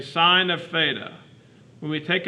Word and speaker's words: sine: functions first it's written si n but it's pronounced sign we would say sine of theta when we take a trig function